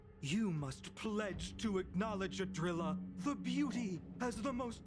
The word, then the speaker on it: Idrila: It's Adrilla, not Adrilla. Well, I mean, pronunciation is key when talking about godlike beings.